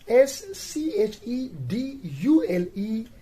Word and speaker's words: schedule: that is spelled as s c h e d u l e schedule right so in schedule again c h reduces the sound k not sure right silent h